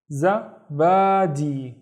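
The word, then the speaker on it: زبادي: So the first syllable is za, and then ba, and then di. Zabadi.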